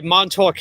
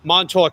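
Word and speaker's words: Montauk: We say Monttok Highway. So you got to you emphasize the K. Mtok Highway, not Monttok Highway.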